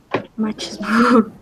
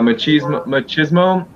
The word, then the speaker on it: machismo: society, now there is machismo. Yeah, machismo. So it's funny. It's a Spanish word, machismo, but it's pronounced in English machismo Machismo.